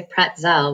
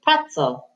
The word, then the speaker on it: pretzel: middle fret so now we don't say pretzel we say pretzel because the accent goes on the first syllable pretzel try this one